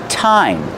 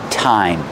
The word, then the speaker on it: thyme: this one it's pronounced thyme that's right time like what time is it the pronunciation is time use the real T